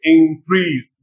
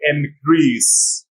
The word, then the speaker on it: increase: pronounce increase increase but in the verb form stress is on second syllable and stress let's just sound from n letter so we don't say increase we say increase increase these were the